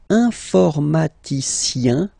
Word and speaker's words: informaticien: And the last group is IEN, informaticien, yin, yin, yin. So that's the way to pronounce this IEN, yin, yin. Okay? Informaticien.